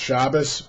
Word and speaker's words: Shabbos: And so the same word would be pronounced Shabbos among the Ashkenazim and Shabbat among the Sephardim.